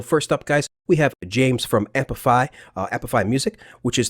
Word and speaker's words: Cem: You guys might call him Kem, C-E-M, but it's actually pronounced Jam, believe it or not.